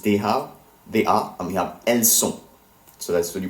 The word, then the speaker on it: elles sont: And we have elles sont. Elles sont. Elles sont, which is they are, feminine. So ELLESSONT, two different words. Once again, all of these verb forms end in silent letters.